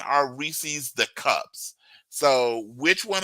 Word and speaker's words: Reese's: It is Reese's, isn't it? It's not Reese's. Reese's. Reese's rhymes with feces.